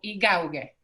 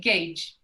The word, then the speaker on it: gauge: Por ejemplo, estas dos palabras, si uno no sabe, no las conoce, las podría pronunciar como yacht o igauge. Pero la verdad es que se dice yacht y gauge.